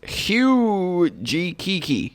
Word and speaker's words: Hyujikiki: i can guarantee you the first syllable is probably huge all right it is hugh g kiki huji kiki hooja kiki huge akiki okay now that you